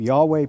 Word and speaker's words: Yahweh: God who is has a name Yahweh pronounced something like your way but they also worshiped